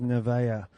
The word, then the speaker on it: Nevaeh: Well, with my my afternoon of mispronunciations, I now find out also that Nevash McConkey is not Nevash McConkey at all. She is Nevaeh from Ramsgate and Sydney East.